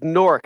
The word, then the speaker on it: Newark: area when he says newark he me he's saying newark uh new jersey is what he's written no it's it's nork it's it's pronounced n-o-r-k norc well whatever it is